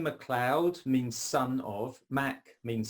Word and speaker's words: MacLeod: MacLeod is fine. Okay. Macleod, I've heard a lot as well, which is, I guess accurately it should be called Macleod, but MacLeod is fine.